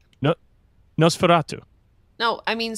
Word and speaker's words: Nosferatu: But I saw Nosferatu, and then I was like, all right, I'm going to check the rest of this out.